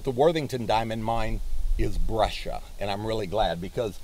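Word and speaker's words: breccia: c c i a you'd think it'd be pronounced Braya but it's brasia and what a brasia is it has angular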